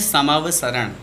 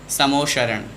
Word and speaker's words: समवसरण: शब्द है समावसरण, और अक्सर हमारे मुख से अशुद्ध उच्चारण हो जाता है, समोशरण या फिर समोशरण बोल जाते हैं हम। शब्द है दोनों स्लेट वाले हैं, शक्कर वाले नहीं हैं, सड़क वाले हैं।